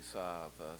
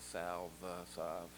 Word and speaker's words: salve: This is called Saab, S-A-L-V-E, Saab, Saab. We usually pronounced it.